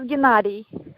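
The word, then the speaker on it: Gennadi: His name is Gennady. Gennady. Spell that for me.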